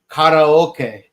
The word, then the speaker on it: karaoke: Yeah, it is one of those rare words where you do pronounce it very similar because like the correct way to say it is karaoke, which is how I always say it.